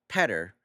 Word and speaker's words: Peter: Time to check out Peter pronounced as better but with a P.